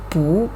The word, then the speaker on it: 不: pay attention here 😎 the original tone of 不 is fourth tone but here we need to pronounce it as SECOND TONE that's because the hanzi